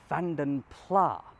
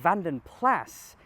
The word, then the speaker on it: Vanden Plas: But if we refer back to the history, we learn that it's a Flemish name. So Vanden Plass is at least more authentic.